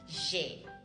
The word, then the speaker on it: j'ai: I pronounce it again, j'ai.